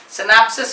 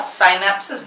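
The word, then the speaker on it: synapsis: याद रखना, क्या बोलते हैं, सिनेप्सिस या साइनेप्सिस, जो भी आप प्रोनाउंस करें।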